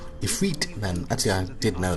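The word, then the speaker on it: Ifrit: Uh, glad I heard that word. Otherwise, would call him Ifit. Ephre then actually I did know that because it's spelled differently sometimes.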